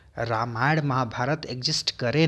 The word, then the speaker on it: राम: को फॉलो करें, तो उसमें द डिवाइन किंग राम, हाँ ये रामा मत बोलिएगा भाई, ये रामा नहीं होता है, रामा शिवा कृष्णा मत बोला करिए, अंग्रेज मत बनिए।